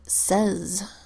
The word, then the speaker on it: says: would expect and says says is spelled s ays as in mom says don't go outside and usually a why would say long a sound a but in this case is making a short e sound yeah and that's unexpected that doesn't follow the rules and so says is a sight word so just memorize these